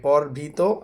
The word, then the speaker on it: পরভৃত: এটার অনেকে উচ্চারণ ভুল করে যে এটাকে বলা হচ্ছে দুটোই একই রকম উচ্চারণ করে, কিন্তু আসলে উচ্চারণ হচ্ছে পরভৃত।